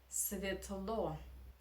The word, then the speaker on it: светло: Okay, next is светло, светло, light, yeah, and again Russian reduction, again here, yeah, unstressed, we pronounce as E, светло, светло.